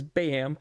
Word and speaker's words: Bayham: So John Bayham, I have been told how to correctly pronounce his name. It is Bayham, is P1 with both pole and fastest lap, and obviously the race win.